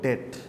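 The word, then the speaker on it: debt: capital স্ট্রাকচারটা হচ্ছে basically এই দুইটার মিক্সচার এটার উচ্চারণ কিন্তু ডেট ডি ই টি নট ডি ইটি আবার ওই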